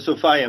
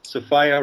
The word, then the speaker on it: Sophia: The Sophia myth, as I call it, rhymes with desire. Sophia rhymes with desire.